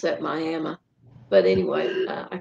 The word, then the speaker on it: Miami: Oklahoma, there was a series of killings in Miami, Oklahoma, and I'm not even sure seems kind of like they pronounce that Miami, but anyway, I call it Miami, Oklahoma.